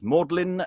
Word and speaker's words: Magdalene: reading uh mary magdalene but will be primarily pronounced as maudlin today is hello my name is sasha cooper